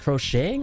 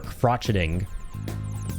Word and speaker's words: crocheting: Is it how how is it pronounced? Crocheting or crotcheting?